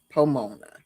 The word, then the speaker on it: Pomona: It rhymes with Ramona, Pomona.